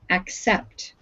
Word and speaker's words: accept: Now that word has 2 C's in it, and we pronounce the first C with a hard sound, ac, accept.